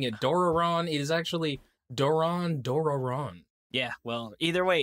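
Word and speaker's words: Doron Dororon: doraron on monday and that is the correct pronunciation you know like um dave was calling it duran duran i was calling it doraron it is actually doran doraron yeah well either way it's gongagon cause it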